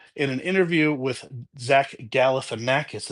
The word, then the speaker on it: Galifianakis: But in an interview with Zach Galifianakis, is that how you say it? Gal in a cat piss, cuddle with an actress, snuggle with a cat, whatever it is. Zach Galifianakis, I think I said it right.